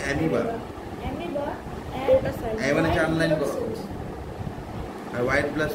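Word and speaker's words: amoeba: irregular for এক্সামপলবি এমিবা স্পেলিংটা এমইবা কিন্তু মুখে উচ্চারণ হবে হচ্ছে মিবা চারলাইন করো আর হোয়াইট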